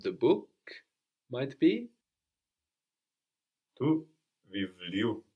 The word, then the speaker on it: βιβλίου: So we don't have the accent on the u, but just before.